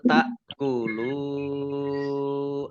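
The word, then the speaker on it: تأكلوا: Nah, ini hamzah ya. Bacanya ta'kulu. Lam domah wawu sukun mat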